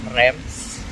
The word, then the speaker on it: Reims: Ang bigkas dito is Reims, the champagne capital of France.